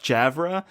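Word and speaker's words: Javre: we know to be uh how do we pronounce this yav javra thank you on the doorstep of their Smokehouse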